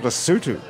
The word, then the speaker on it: Lesotho: It's called Lesotho. Yes, sir. Even though it's spelled Lesotho.